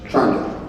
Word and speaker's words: Toronto: So I wrote it the way it sounded like to me, the way everybody in Petty Harbour said it, which was C-H-R-O-N-T-O. 2 syllables, Toronto.